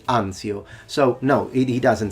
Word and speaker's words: Anzio: He says Anzio, we say Anzio.